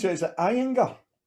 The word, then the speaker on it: Ayinger: How do you pronounce it? Is it Ayinger? Ayinger.